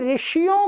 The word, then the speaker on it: ऋ: ए ई उ ऊ ऋ वस्तुत क्या है? ऋ है ऋ परंतु हिंदी में इसका उच्चारण कैसा करते हैं? ऐसा कर देते हैं। ऋ लिखते तो ऐसा है। क्या लिखते हैं? ऋषि ऋषि परंतु बोलेंगे तो क्या बोलेंगे? ऋषि ऋषि ऋषि परंतु नहीं ये गलत है।